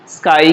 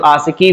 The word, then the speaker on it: ASCII: तो जो पहली कोडिंग स्कीम है वो है आपका स्काई कहते हैं उसको, या कुछ लोग आशिकी भी बोलते हैं इसको। तो स्काई कहिए चाहे आशिकी कहिए, दोनों एक ही है। तो अपने अपने जो भी प्रोनाउंसिएशन यूज़ करना आप लोग यूज़ कर लीजिएगा।